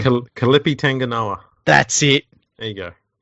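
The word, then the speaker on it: Kelepi Tanginoa: And I always get this dude's name wrong. Kalipi Tanganoa.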